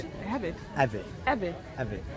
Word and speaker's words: Avit: How do you pronounce it? Avit. Avit.